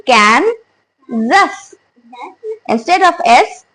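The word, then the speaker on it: Kansas: व्ट should be the pronunciation it should be कैन जस instead of एस the word will be जी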